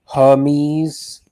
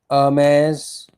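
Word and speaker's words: Hermès: Some people pronounce it Hermes. Hermes. Um, I think the correct pronunciation is a like a silent H. E R M E. Hermes. Ames.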